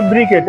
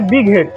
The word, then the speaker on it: বিগ হেড: কেউ বলে ব্রিকেট। এটা আসলে উচ্চারণ হয় বিগ হেড। আমরাও বলি যে ব্রিকেট।